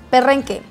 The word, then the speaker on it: perrenque: Perrenque. Here we say perrenque. Perrenque. Yes, you can roll your R's.